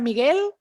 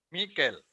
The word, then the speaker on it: Mikel: ¿Empieza Miguel? ¿Miquel? Miquel. Miquel. Ok, ahora sí, Miquel.